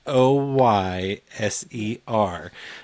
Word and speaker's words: Hoyser: You might misspell it or you might mispronounce it, but Yes. it's Hoyser.